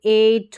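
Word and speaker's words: eight: अब आगे देखिए ई आई जी एच, ई आई जी एच का ए करके उच्चारण, ये वाला ए इस तरीके से, जैसे एट हो गया, नेबर हो गया, वेट हो गया, तो यहाँ पर ए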